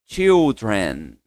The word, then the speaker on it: children: Uma outra forma de falar crianças ou filhos, pessoal, é comigo children. É como se fosse um sozinho de T, ó. Ch tren. Ok.